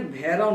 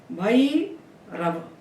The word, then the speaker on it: भैरव: तो यदि हमने लिखा 2 मात्रा लगा करके भैरव, कई रव, तो इसको हिंदी के संस्कार से हम भैरव ना बोले, भई रव, कई रव, ऐसे ही बोलना पड़ेगा इसको।